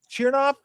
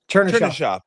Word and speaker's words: Chernyshov: Yeah, Let me ask you about, is it Chernoff? Is that how you pronounce? Chernyshov. Yeah. Chernyshov.